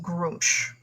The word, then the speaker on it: Gruumsh: The both of you know that is Grumsh. Really? Really? It's Groomsh? How do you spell that?